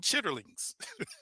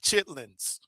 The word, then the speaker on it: chitterlings: And I say, oh, y'all eating chitterlings. Y'all eating chitterlings, because family, that's how it's really pronounced. Chitterlings, not chitlins.